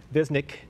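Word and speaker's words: Goran Višnjić: Goran Visnjic. Goran Visnjic. It's a little crazy pronunciation with the end. Visnjic.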